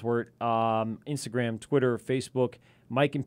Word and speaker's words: wort: The Wort, a podcast, spelled Wort, pronounced Wort, Instagram, Twitter, Facebook, Mike and Pete, search it out.